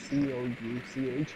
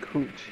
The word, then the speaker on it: Couch: in Portland, there's a street called Couch, Cooch, but the white people pronounce it Kooch.